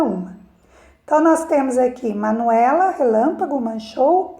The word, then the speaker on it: Manuela: Então, verifica que o E é a sílaba mais forte, né, da palavra, né?